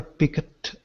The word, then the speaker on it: picked: It's just remembering that it's not pronounced the way it looks. It's not picked. It's picked. Picked.